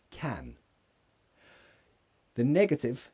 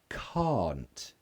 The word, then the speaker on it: can't: in cats hat cap can the- can't it's the same as in car can't ah can't let me